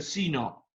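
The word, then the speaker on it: sine: En inglés seno se dice sino.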